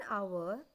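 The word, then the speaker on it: hour: जैसी होती है और कॉन्सोनेंट साइलेंट होता है। ऐसे अल्फाज के पहले भी एन का इस्तेमाल होता है। For example, an आवर, एन ऑनर, an honest.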